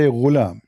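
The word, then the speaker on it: غلام: Al-ghulam بضم الغين, which means you say ghulam.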